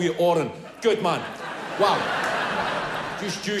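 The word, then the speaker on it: Odhran: O D H R D H is silent. D H silent is silent. All right. So, Oran. Is that enough if I just call you Oran?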